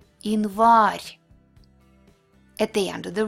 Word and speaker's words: январь: When it's unstressed, but not at the end of the word, it will be E. Январь.